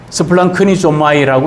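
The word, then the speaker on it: σπλαγχνίζομαι: 그래서 이 헬라어로는 스플랑크니조마이라고 읽습니다.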